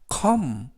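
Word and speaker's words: comb: 이러한 뜻을 가지고 있습니다 쓰이는 크 오는 어 때문 뭐 그리고 비는 묵음 그래서 카 움 컴 이라고 발음합니다 뜻은 머리를 빗는 빛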